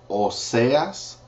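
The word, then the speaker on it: Oseas: is heras Ezekiel is Ezekiel Daniel is Daniel it's spelled the same way Daniel Hosea is OAS Joel is hoel spelled the same way Amos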